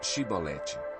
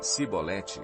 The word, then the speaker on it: chibolete: Se respondesse que não, diziam: "Então diga chibolete". Se ele dissesse cibolete sem conseguir pronunciar corretamente a palavra, prendiam-no e matavam-no Jordão.